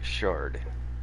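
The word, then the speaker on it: sherd: turn on the cam yep and it is pronounced Shard it's just spelled sh okay so I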